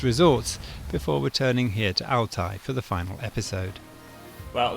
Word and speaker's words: Altay: So how do you say Altai in English? Altai. Altai. Yeah, Altai. Okay. And in Chinese? Altay. Okay. Yes. So it's Altai, Jack. I had it right before.